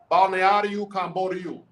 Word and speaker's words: Balneário Camboriú: Balneário Camboriú.